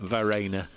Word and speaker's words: Verreynne: It is Verena, is that what I'm Verena. asking you for Verena, pronunciation guide now? as in Claire Rayner or Ollie Rayner. Right, okay. Verena.